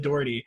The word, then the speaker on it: Daugherty: When you said it that way, D-A-R-D-E-E, like just say it like that really fast. Yes. Daugherty, like there you go.